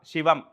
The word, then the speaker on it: சிவம்: அ விஷ்ணு உ சிவம் நிறைய பேர் வந்து சிவன் அப்படின்னு சொல்றாங்க அதுவே தவறுதான் சிவம் ம் இந்த பிரம்மாக்கு உச்சரிக்கக்கூடிய ஆ